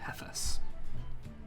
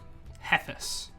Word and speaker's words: Hethas: an f heus h e t h Fort heus pronounce it kind of like hephestus heus heus oh cool um as he leads you